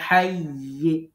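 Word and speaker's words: حيّ: আমাদেরকে মনে রাখতে হবে তাসদিদ যুক্ত হরফের তাসদিদ উচ্চারণ করে, তাসদিদ যুক্ত হরফ যে দুইবার উচ্চারণ হয়, পরের বার সাকিন দিতে হবে। তো হাইয়ি আছে, ইটা না পড়ে আমরা হাইয়ি এরকম পড়বো, মানে তাসদিদটা বুঝাইতে হবে, উচ্চারণ করতে হবে।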